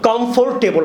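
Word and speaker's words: comfortable: আমরা এখন 5টা প্রোনাউন্সিয়েশন শিখবো। সো কমফোর্টেবল আমরা বলি, কমফোর্টেবল 4টা সাউন্ড।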